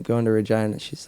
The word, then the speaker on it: Regina: from the capital yeah it's called Regina the Rolling Stones made it famous by saying reject the city that rhymes with fun ah yeah I'm sure